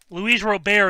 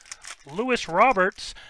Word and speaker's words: Luis Robert: Luis Robert is one of them that gets butchered horribly, I've heard. Lewis Roberts, and I know that's not how that's said. I know that's not how he says his name, or it's supposed to be pronounced.